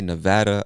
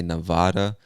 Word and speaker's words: Nevada: list is nevada nevada some people say nevada other people say nevada you say whichever one you want all right now nevada